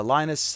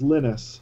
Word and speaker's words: Linus: pronounced his name um I think you've got the first name wrong too I believe it's Linus lennus see I shouldn't have